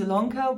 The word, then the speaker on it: Ilonka: to stitchy lonka yes it's spelled with an i but pronounced with an e my name is ilonka welcome back for those